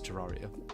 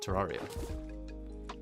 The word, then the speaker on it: Terraria: How does one pronounce Terraria? Terraria. If you say it as Terraria, you're wrong. Simple as.